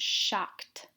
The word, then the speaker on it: shocked: This one ends in a T sound, shocked.